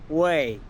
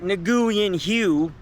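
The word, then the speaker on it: Nguyễn Huệ: Vietnamese is pretty hard to pronounce, but uh the way you pronounce this street is close to uh Wii. Uh not Naguian Hugh, but saying Wii is a little bit closer than um than anything else.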